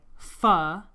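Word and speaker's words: phở: we've had Chinese I can't wait to try phuh which is Viennese I learned how to pronounce it correctly I can't wait to try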